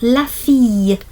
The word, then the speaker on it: la fille: And then down here we've got la fille. It's a bit like a y sound, like a y.